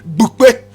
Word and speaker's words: Bupe: Correct pronunciation, Bupe, Bupe, Bupe.